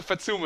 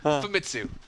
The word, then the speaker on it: Famitsu: For a listener out there, tell them what the Fatsuma is all about. I'm not sure. It sounds like you're saying an Italian word or something. No, Fatsuma. I'm saying it right. Famitsu.